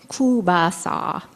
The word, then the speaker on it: kielbasa: She would carefully select a coil of Polish sausage called kielbasa, which my grandfather pronounced with a funny voice, kubasa.